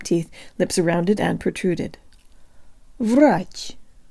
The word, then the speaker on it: врач: behind the bottom teeth lip surrounded and protruded Rodge Rodge if the Russian air is giving you trouble